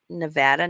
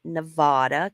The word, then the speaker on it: Nevada: in the state of Nevada and it is pronounced Nevada not Nevada it's Nevada Nevada 97.2 percent of the land is either